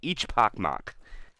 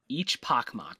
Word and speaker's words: Echpochmak: name ecmp no they the CH is supposed to be pronounced as chili so it' be each pacm each pacm I believe I said